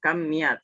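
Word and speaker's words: كمية: Ini bukan kimia, bacanya kamiyat ya, kam.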